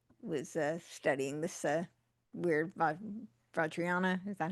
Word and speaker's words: Vajrayana: is what apparently was studying this uh weird Vajrayana is that how you pronounce it? Yeah. Vajrayana yeah. Vajrayana.